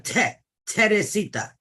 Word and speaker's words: Teresita: It's a Teresita. Teresita. Yep, it's pronounced Teresita.